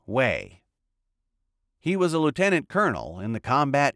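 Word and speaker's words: Hue: Jack Patton was killed by a sniper in Wei, pronounced Wei.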